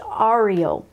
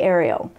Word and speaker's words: Ariel: And it could be pronounced Ariel. I say Ariel, but you know, it's just the way, you know, we pronounce things.